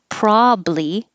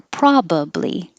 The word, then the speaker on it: probably: the same uh situation as you can say probably with two syllables or probably with three syllables i'm going to choose